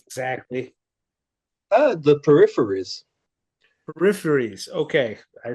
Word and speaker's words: Peripheries: Okay, how do you pronounce your band name exactly? The Peripheries.